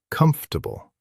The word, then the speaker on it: comfortable: The word comfortable. This one is tricky. We write a lot of letters, but we say comfortable. We skip right over some of it. Comfortable.